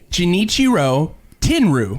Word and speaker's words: Genichiro Tenryu: Genichiro Tenryu. Tenryu.